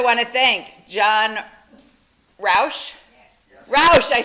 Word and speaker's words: Roush: Roush, I said it right.